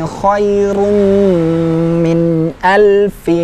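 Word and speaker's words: خَيْرٌ مِنْ أَلْفِ: Lailatul Qadri khairum min alfi syahr. Ya. Oke. Kemudian khairum gunnah. Sudah kita ulang-ulang cara membaca gunnahnya. Panjangkan, lebih panjang dari mat tabi'i ya.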